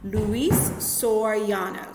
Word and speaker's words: Luis Soriano: So it's Luis Soriano. So I said Soriano, so I actually said it incorrectly. Luis Soriano, so that's how you pronounce his name, decided to help these children.